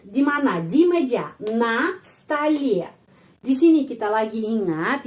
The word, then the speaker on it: столе: Kita tambah huruf y jadi столе, на столе. Di sini penekanannya pada huruf y.